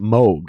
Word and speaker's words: Moog: called yeah yeah yeah yeah yeah they actually pronounce it moog yeah they pronounce it mug yep yep and it's the moga fogger but